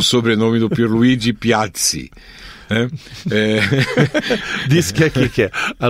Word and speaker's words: Piazzi: Pizza, porque a pronúncia correta é com 2 Zs, né? É por isso que, assim como pizza tem 2 Zs e se pronuncia pizza... E não pisa.